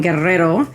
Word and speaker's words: Guerrero: like to pronounce Guerero well you know it's the dou r i can't be uh I can't be in the mcal word and say Guerrero guer that would just be embarrassing so uh but this is